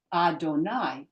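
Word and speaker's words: אֲדֹנָי: you're talking to God when somebody's talking to God they say Adonai exactly the same word in the scroll but instead of aik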